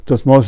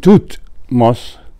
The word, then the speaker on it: Thutmose: Dud, and the name Thutmose, Thut, the first part of the name of Thutmose the Third, although in English we pronounce it the same way as Tut in Tutankhamun, but in hieroglyphic it's a completely different word.